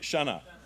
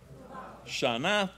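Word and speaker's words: שנה: Shana. Very good. Tova. Tova, like T-O-V-A. Tova. Shana Tova.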